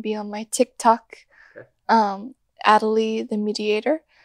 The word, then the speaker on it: Atalie: Atalie the Mediator. Atalie spelled like Natalie without the first letter.